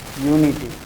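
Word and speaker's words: unity: जैसे a house, a historical fair, A heinous crime, A यूनिटी।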